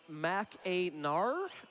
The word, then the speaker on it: Mackinac: Mackinac is actually pronounced Mac-a-nar.